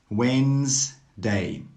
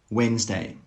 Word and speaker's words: Wednesday: Are you pronouncing these words correctly? Wednesday, Wednesday. Handsome, handsome. Sandwich, sandwich. All of these words have a silent D. That means you don't need to pronounce the D sound.